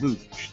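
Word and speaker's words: Looj: This time, the iRobot Luge. They spell it L-O-O-J. It's not an Olympic event.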